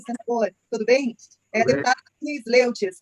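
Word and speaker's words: Sleutjes: Eu fiquei sabendo que pronuncia Aline Sloitz, né? Fiquei sabendo aqui agora. Deputada Aline, me corrija depois. Então, com a palavra, deputada Aline. É Sloitz mesmo, deputada Aline?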